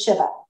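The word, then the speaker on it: שבע: sorry Shiva is seven if I count in Hebrew the number seven is Shiva okay that's how you say it so Shiva is seven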